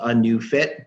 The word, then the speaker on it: ANeuFit: So let me just kind of recap that the company is called ANeuFit, but new is not spelled N-E-W, it's spelled N-E-U, because that's super cool.